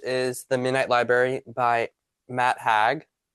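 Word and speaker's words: Matt Haig: And my last book is my book club book, which is The Midnight Library by Matt Hag, which this is how you say it.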